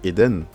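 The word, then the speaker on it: עדן: Là on a le Aïn, on a le son tiré, donc le E. Nous avons le Dalet, nous avons un Ségol ici, le son E aussi. Nous avons le Nun, donc ça se lit Eden.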